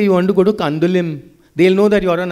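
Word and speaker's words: Candolim: Because in Konkani and in Portuguese, we don't pronounce the M. So when you land in Goa, don't say you want to go to Kandulim.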